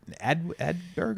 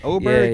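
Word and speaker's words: Åberg: Was it Ludwig Adberg? How you say his name? Oberg, yeah. His first major, and he had a chance to win it.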